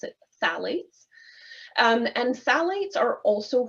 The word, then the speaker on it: phthalates: called phalates I know it's a funny little word there with the pH phthalates but we pronounce it th salades um and salades are